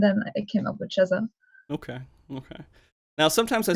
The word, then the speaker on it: Chezah: actually, but it's pronounced Chezah Oh everywhere.